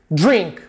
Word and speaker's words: drink: to eat to drink drink verbo beber drink drink percebeu eu não falei drink drink o som do I não é verdadeiro ele é um I misturado com e drink drink repeat